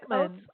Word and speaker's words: Oatman: It's Oatman. Like oats, Oatman.